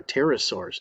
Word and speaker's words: pterosaurs: They are pterosaurs. Notice how I'm not pronouncing the letter P in this word because the PTR means wing.